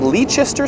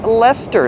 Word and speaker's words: Leicester: There's a square that looks like it's called Leicester Square, but it's pronounced Leicester Square.